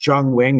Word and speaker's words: Yung Wing: me that that It's Jung Wing is the more accurate way to pronounce it. So um "Jung Wing" is how I'll say it here.